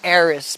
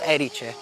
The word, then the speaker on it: Erice: You would read it in English Erice, but it's not like that. It's called Erice.